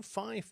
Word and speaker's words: fife: To the purists in aviation amongst you, Fife is also the correct way to pronounce the number 5, apparently to keep from confusing it with the word fire.